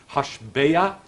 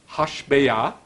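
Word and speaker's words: השבע: Sounds almost exactly the same. Hashbeah Hishbiah. And it is written exactly the same. Hey, Shin, Vav, Ayin. But it's pronounced slightly different, both words. Hashbeah, the swearing, Hishbiah, to swear. So it's the same word, but it's said twice.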